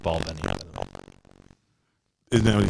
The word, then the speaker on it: Balvenie: It is pronounced Balvenie. Isn't that what he said? No, everyone is using I like me. Belveni.